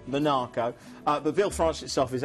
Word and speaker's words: Monaco: a stone's throw from Monaco or so Minako have to say it correctly Minako the Ville France itself